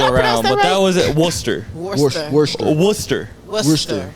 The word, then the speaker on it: Worcester: but that was it Worcester werer Worster Worster the r is silent which is weird wer Ardo right yeah